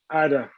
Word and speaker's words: Ada: Just pronounce as written. First name. Ada.